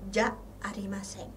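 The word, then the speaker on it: じゃありません: Dibacanya ja arimasen.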